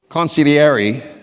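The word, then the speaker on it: consigliere: through my my uncle I got to say this right cuz I got criticized at dinner last night for saying it wrong consiliary okay hope I got it right that's an Italian word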